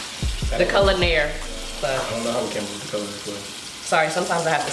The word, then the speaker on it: Culinaire: say it like enunciated because people say culinary club like they rely on the hands but it's like billionaire that's the easiest way to explain I feel like I gotta